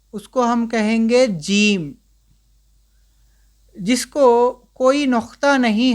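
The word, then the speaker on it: ج: जो first first letter देखें जो डॉट से है जिसके पेट में डॉट हो इसको कहते हैं हम जीम।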